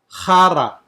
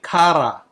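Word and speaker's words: χαρά: Chara. Okay, you can say kara or chara.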